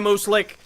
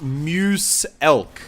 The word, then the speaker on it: Muselk: you say your name it's pronounced Muse elk like Muse elk so it's like a like a moose and an elk together like like the